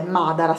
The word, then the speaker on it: Madara: marca che, no scusate, Madara secondo me perché c'è l'accento sulla prima A, che mi hanno dato in mio profumeria.